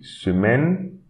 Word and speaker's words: semaine: Semaine. And don't pronounce this E.